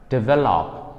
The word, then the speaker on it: develop: ဒီလိုပြောပါတယ် develop လို့ပြောလဲမှားပါတယ် develop လို့ပြောလဲမှားပါတယ်တကယ်တော့ stress ကို middle syllable မှာအတန်ဖိပြီးတော့ပြောပါမယ် develop final ending consonants တွေကိုတတိထားပြီးတော့ပြောဖို့လိုပါတယ် repeat after me develop